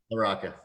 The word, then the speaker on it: LaRocca: Is that how you say it, or LaRocca? LaRocca.